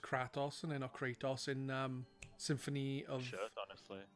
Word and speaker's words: Kratos: or Kratos is Kratt offs from it is pronounced cratis and in ochratoxin Symphony of tales of symphonia